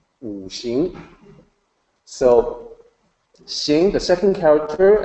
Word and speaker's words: Wuxing: So it actually sounds like SH. Wuxing.